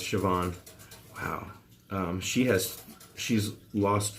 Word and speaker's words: Siobhan: veggie spread Siobhan and I know how to pronounce see upon I know it's Siobhan Wow she has she's